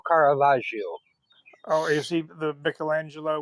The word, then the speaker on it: Caravaggio: I didn't know who car kavio however you say his name was he was a painter you're close enough it's kavaj it's m Michelangelo Caravaggio oh is he the